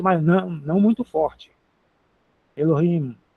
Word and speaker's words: Elohim: Elohim é o H fraquinho, não é muito forte não. Elohim já sabemos que isso significa deus.